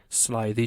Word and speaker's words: slithy: that has often been asked me how to pronounce slithy toves the i in slythe is long as